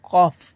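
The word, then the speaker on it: cough: মজার শেষ নিয়ম হচ্ছে শব্দের শেষে থাকলে জিএইচ তখন আমাদের জিএইচ এর উচ্চারণটা ফ এর মত হয়ে যায় ফর এক্সাম্পল আমরা দেখলে বুঝতে পারব সি এ ইউজি এইচ কি বলব আমরা এখানে কফ সি ইউজি কি বলব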